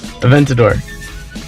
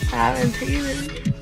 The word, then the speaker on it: Aventador: How do you say it? Aventador. Aventador. Sounds like a tater tot.